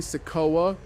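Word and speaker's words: Sikoa: booing solo and also you guys told me I've been pronouncing his name wrong I don't know why I was saying sea but it's definitely seoa but they were boo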